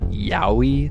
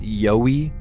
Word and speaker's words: Yowie: I was calling it yahi the whole time which in reality as I've been saying it's pronounced yoy so thank you YouTube